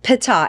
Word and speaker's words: Pita: It's Pita.